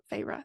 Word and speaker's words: Feyre: Feyre, that's how you say it.